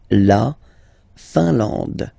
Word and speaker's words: Finlande: I-N here, nasal, un. A-N, nasal, en. And then D, final E, not pronounced. La Finlande.